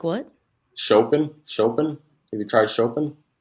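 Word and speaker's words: Chopin: Shopen. Have you tried shopen? Spell it. C H O P I N. Mm- sounds like Shopan.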